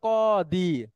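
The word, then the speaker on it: قاضي: এরকম একজন পেশার লোক কাজী যখন বলে এটা আমার কাছে কষ্ট লাগে কাজী মানে বিচারক আরবিতে ওইটা হলো কদি কদি হ্যাঁ আলদি এই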